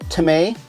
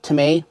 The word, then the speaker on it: Temai: thanks for tuning in this company is called tomay i'm pretty sure that's how you pronounce it t-e-m-a-i to me to my to me let's just say to me full disclosure i fell